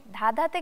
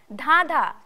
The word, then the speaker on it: ধাঁধা: ধাঁধাতে কিন্তু একটা চন্দ্রবিন্দু আছে, তাই না? তাহলে কিভাবে উচ্চারণটা হবে? ধাঁধা বলো তো।